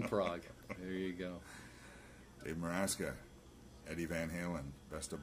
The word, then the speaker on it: Meraska: Dave Meraska. No, well, you can pronounce it that way. That's just my Facebook spelling. How do you pronounce it? It's Meraska.